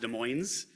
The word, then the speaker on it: Des Moines: It's pronounced Des Moines. It's not Des Moines, it's a different city.